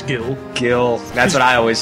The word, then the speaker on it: Gil: And sometimes another thing, Gil and Jill. Oh, dang, I always say Gil. You might catch me saying Jill, even though I'm pretty sure the actual pronunciation is Gil.